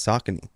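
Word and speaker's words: Saucony: get it like and I Sone is that how do you say it I think so no it's sakon really did you just say sakone am I wrong you're so wrong that is crazy oh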